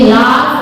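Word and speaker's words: laugh: जैसे एल ए यू जी एच, यू के बाद जीएच आ गया तो ये लाफ बोला जाएगा, लाफ। टी ओ यू जी एच,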